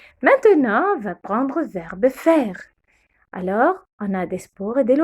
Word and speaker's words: faire: AI, on le prononce eh. Faire, faire.